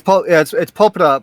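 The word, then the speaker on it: ポプラ: Yeah, it's Popra, but people who don't know that's Opal's Japanese name.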